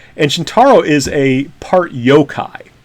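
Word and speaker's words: yōkai: is known for coming up with ghost stories yokai stories and we'll just make that the password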